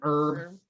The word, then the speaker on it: herb: An herb? Is it herb or herb? Herb. The H Herb? is silent.